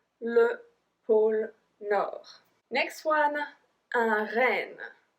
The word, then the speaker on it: pôle: So because there's an accent circumflex on the O, we pronounce it longer. Le pôle Nord.